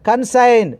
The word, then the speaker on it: consign: Consign. G is a silent letter.